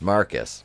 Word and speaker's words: Marquis: feelings between ryan and marquise pronounce marcus then we see wayne